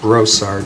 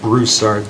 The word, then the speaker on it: Brassard: last name for us my last name is pronounced brossard not bruce art there is no you in there but thank you for